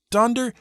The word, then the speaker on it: Donder: really the right spelling since almost everyone was pronouncing it D with an O and not a you so he changed that too and that's the way things stayed for a few years donder and Blitzen but in